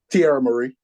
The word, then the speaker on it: Tierra Marie: How do you pronounce that girl's name? Tierra Marie? Tierra Marie.